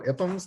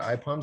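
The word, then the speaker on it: IPUMS: years the ipham's collection bob we go iphones not ipoms there's actually a pronunciation guide on their website um we we've now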